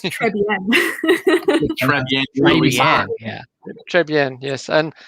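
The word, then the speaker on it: Traigh Bhan: I don't know how everybody else pronounces it, but apparently the official way is Trivan. It's now what they call real whiskey. It's pronounced Trebien.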